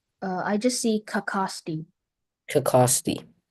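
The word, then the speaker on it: cacaxte: Are there any alternate pronunciations? Uh, I just see kakosti.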